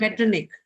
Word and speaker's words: Metternich: जब आपने initial stages में फोनिक साउंड्स करे होंगे तो CH is always pronounced as k. So it Okay, is ma'am. Metternich, not ch.